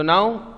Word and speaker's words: gnaw: So now if you can see here in this video, some animals know their food. I told you GNAW is not GNO. Correct? It is no, pronounced as no.